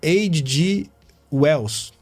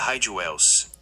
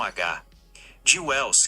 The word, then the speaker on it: H. G. Wells: O H tem um som mais forte, como um R bem fraco, e o G tem um som mais suave, como um J. Então seria H.G. Wells. Não seria Hyde Wells.